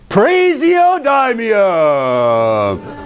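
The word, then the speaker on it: praseodymium: is that one uh you're not saying it right man that's right you gotta say prasiodamia it's the gospel element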